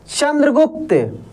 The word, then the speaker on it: चंद्रगुप्त: चंद्रगुप्त, चंद्रगुप्त, चंद्रगुप्त। देखिए चंद्र, अच्छा चंद्र, न का उच्चारण हो रहा है काफी तेजी से।